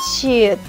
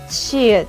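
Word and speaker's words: 치읓: we pronounce it ch Chh’ieut it sounds a hard ch it is blowing I pronounce while pronouncing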